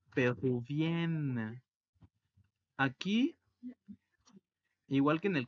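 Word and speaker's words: péruviens: Por eso la pronunciación es peruvienne. Peruvienne. Ahora, en plural, masculino, se le agrega una S y sería peruvien. Peruvien. La N y al final una S. Y la S al final no se pronuncia.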